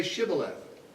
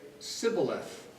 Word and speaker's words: Shibboleth: any significance, except that they knew that Ephraimites could not pronounce it correctly. And so they said, "Then say Shibboleth." And he would say Sibboleth, for he could not pronounce it right.